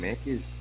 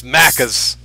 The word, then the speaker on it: Macca's: Yeah, you want some Mackies? Just somebody's gonna randomly, hey, you cunt, it's Macca's.